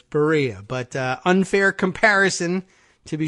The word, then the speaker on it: Berea: pronunciation I was saying Berea College ber EI Barea you know no its Berea like although somebody gave me a pronunciation guide a handy pronunciation guide like diarrhea they said it's Berea but unfair comparison to